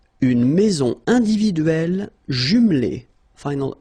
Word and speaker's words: individuelle: So remember when you get this E and then double consonant, and especially here it's the same one, that's the idea. It will open the sound of E, so you will pronounce it like é.